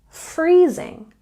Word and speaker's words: freezing: the weather is freezing and we stress the first syllable in freezing freezing number five don't say